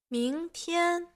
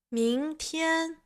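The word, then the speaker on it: 明天: 明天, 明天. Here, the first character has the second tone.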